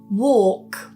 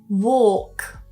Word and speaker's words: walk: So just be aware that some accents in the UK do pronounce the vowels differently in these words, and they may also pronounce the L. It's just something to be aware of. Talk, talk, walk, walk.